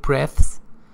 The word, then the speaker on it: breath: Or take a couple of deep breaths. It's not breathe. Pay attention, the pronunciation is different. This is breathe as a verb. This is breath as a noun.